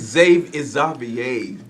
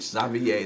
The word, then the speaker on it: Zxavier: It's Zxavier. Really. Zxavier. It's French. Xavier. That's Xavier. how you pronounce it.